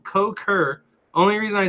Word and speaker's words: Cukor: George Cukor fur ah and I was saying cocker Larry sorry George he said I'm sorry but I have to correct you it's pronounced coke her only reason I say